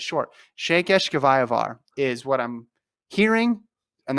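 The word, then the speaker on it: Székesfehérvár: This meet is in, hold on, let me play it on Google pronunciation here. Hold on. Shekeshkevayavar.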